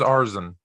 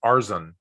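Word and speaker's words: Arizin: tone it's paul arizon i thought it was arson correct me one more time i'm not picking the rockets so we don't have to say his name anymore um i wanted to call him arzine but i saw someone where it said it was showing you how to say it and it says arsene arizon are azan it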